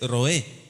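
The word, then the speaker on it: רועה: En hebreo se dice roé.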